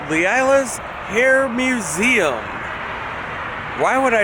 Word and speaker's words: Leila: Leila? Yes. Yes. And you pronounced it right.